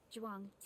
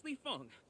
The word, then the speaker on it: Leong: Jang. He already butchered it. Wait, no, it's Leong. My name is Leong.